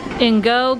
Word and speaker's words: INGO: Spence, can you pronounce what the table's called? Ingo or Ingo? Ingo, got it.